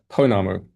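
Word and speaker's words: pounamu: Oh, uh, this is, uh, yes, uh, Ponamu. Ponamu.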